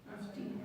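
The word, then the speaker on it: αυτοί: Decís, ellos, Afti. afti. Exacto, se pronuncia afti, pero se escribe con omicroniota.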